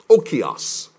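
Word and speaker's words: οἶκος: Oikos. It's spelled O-I-K-O-S.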